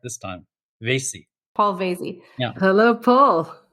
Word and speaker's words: Vasey: Am I pronouncing it correct cuz I think I called you Paul Vassy last time. Yes, no, you pronounced it correct this time. Vasey.